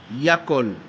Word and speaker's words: Yakol: Et quand vous mettez ça dedans, vous allez dire Yakol. Yakol veut dire pouvoir. Yakol, Yakol. Et Jésus. Bon, attends, je ne peux pas prononcer trop le mot.